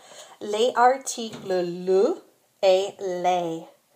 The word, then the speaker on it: les: Be sure to distinguish between the pronunciation of le and les. In spoken French, that is often the only way to tell the difference between a singular and a plural noun.